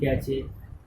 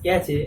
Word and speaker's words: cache: So those are also pronounced as cache. I also lot of times I say cache. So but it is not right to pronounce cache because it's cache, CACHE, cache memory.